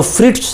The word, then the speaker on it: Fritz: और जो फ्रिट्स शॉप है, FRITZ, यहाँ पे जेड साइलेंट हो जाएगा, तो फ्रिट्स की जो शॉप है, जो दुकान है, वहाँ पर वो होगा।